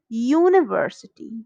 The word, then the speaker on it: university: this why because when we say the pronunciation of the word is university university yeah university european unicorn so the sound what is the sound it is yeah here is not a vowel so we use a